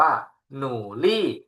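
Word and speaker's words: 努力: ว่า หนู 2 คำ นี้ ออก เสียง ว่า หนูลี่ หนูลี่ แปล ว่า ขยัน นะ ครับ หนูลี่ ขยัน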